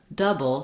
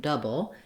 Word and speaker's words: double: we move to double unlike doable which has three um syllables doble double just has two double and the o u just says vowel schah that tense schah the stress schah that sounds like uh it's not tense it's stressed so it's